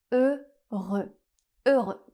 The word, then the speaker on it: Heureux: un /ø/ fermé et le X final est encore une fois une consonne muette. La dernière consonne du mot ne se prononce pas. Donc on a le mot Heureux.